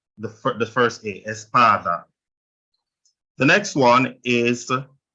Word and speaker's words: espada: last one right so this next to last which is PA so it's Espada can hear the stress on the a the for the first a Espada the next one is